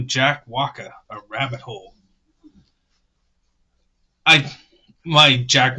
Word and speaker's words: Walker: Walker, not Waka. And the last survivor. Man, this sucks, guys, that pronounce these R's.